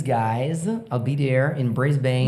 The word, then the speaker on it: Brisbane: Brisbane.